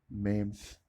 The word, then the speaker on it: MEMS: ये मेम्स है, MEMS, और वो मीम्स होता है MEMES।